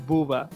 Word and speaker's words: Booba: Is it Bubba or Booba? It's Booba.